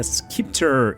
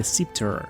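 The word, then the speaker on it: scepter: want to have a skipor in your off hand everyone went into comments to correct me and to say that the right pronunciation will be septer I know but who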